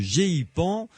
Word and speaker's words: GEIPAN: Avec donc mon invité ce soir, Jacques Patenay, qui est le directeur du GEPAN. Pas facile à prononcer, G-E-I-P-A-N. On peut dire GEPAN, tout simplement. GEPAN, voilà, d'accord.